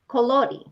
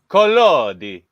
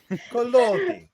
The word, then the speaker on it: Collodi: I don't know how to pronounce any of these words, but there it is. Pelodi. Sure. Colori. Collodi. Yeah. Colodi.